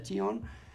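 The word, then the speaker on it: κύων: Por si alguien no recuerda, Chión se escribe con C, pero se pronuncia Chión, en el griego antiguo significa perro.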